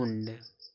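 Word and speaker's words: wound: देखो इसको देखो यहां डब्ल्यू ओ यू ओ यू एन डी इसको देखो क्या पढ़ेंगे इसको पढ़ा जाता है ऊंड ऊंड पढ़ते हैं ऊंड नहीं ऊंड पढ़ते हैं।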